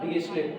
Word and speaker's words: Dirichlet: लेकिन अब नॉर्मली आदत पड़ चुकी है सबको डिरिचलेट कहने की, तो कोई भी इसको मैक्सिमम लोग इसको ना डिरिचलेट ही कहते हैं। मैक्सिमम क्या 99% लोग इसको डिरिचलेट ही कहते हैं। असली प्रोनाउंसिएशन इसका दिगिचलेट होता है, लेकिन फिर भी अब